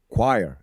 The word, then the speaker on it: choir: singing singing in a choir as well that's a pretty hard word to pronounce choir yeah not quiet choir yeah but i realize i